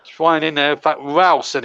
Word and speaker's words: Ralston: In fact, Ralston is his name. His correct pronunciation, not Railson. It's W-A-L, not W-A-I-L.